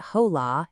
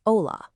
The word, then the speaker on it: hola: In Spanish, the H is always silent. So it's not hola, it's hola.